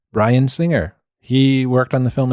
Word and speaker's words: Bryan Singer: And speaking of being put through the ringer, not ringer, but rhymes with ringer, Bryan Singer.